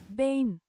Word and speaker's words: been: Bane. Bane. Where's the French? Hang on. Je there's she ain't pronouncing the B.